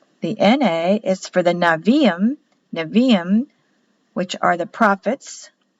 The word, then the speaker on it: Nevi'im: The N-A is for the Nevi'im, which are the prophets, spelled Nebiim. B is pronounced as a V in Hebrew, but spelled B on the paper.